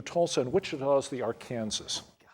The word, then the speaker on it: Arkansas: The river that flows through Tulsa and Wichita is the Arkansas, which is spelled the same way as Arkansas, but go figure.